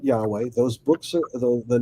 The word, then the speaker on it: Yahweh: The YHWH, I would pronounce that Yahweh.